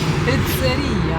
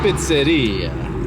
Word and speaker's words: pizzeria: Piteria. Pizzeria. Pizzeria. Pizzeria. That's the way to say it correctly.